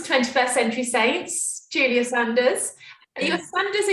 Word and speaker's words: Sanders: welcome to 21st Century Saints, Julia Sanders. Are you a Sanders or you're a Saunders? How do you pronounce it? So it's pronounced Sanders, but I just got